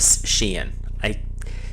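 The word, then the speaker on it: Sidhe: So along this journey, we will be going through a fairy Scythian, or a Sheehan. It's spelled one way and said another, sorry.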